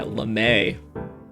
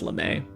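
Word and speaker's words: lamé: the singing group yeah lemay it's kind of shiny i think and i think it's pronounced lemay yeah it has the accent yeah so this is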